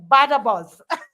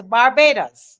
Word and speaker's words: Barbados: So they Badabos. Say Barbados. Come on, say Barbados. Barbados. Yes, Barbados.